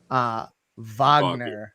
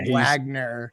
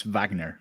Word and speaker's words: Wagner: I appreciate you correcting me here that it is pronounced Wagner, not Wagner. He's German, so it's Wagner.